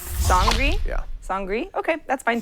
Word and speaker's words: Sangre: it's it's uh nollens you pronounce it sangri sangri yeah sangri okay that's